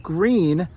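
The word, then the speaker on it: Gruene: It's pronounced green, like the color.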